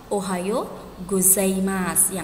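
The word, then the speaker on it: おはようございます: disini tulisannya ohayou gozaimasu pelafalan dalam bahasa Jepang untuk huruf i di akhir itu dihilangkan jadi ohayou gozaimasu dibaca Ohayo gozaimasu yang artinya selamat pagi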